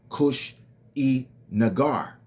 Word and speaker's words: Kushinagar: K U S H I N A G A R Kush E Nagar. You see, follow me now. We're going deep into it. When you break the word down into three syllables, you get Kush in nagar.